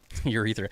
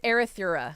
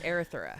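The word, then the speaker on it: Erythrura: So Urethra. It's not pronounced urethra. That's just how I say it. It's Erythura. That's what it is. Yeah. It's Erythura.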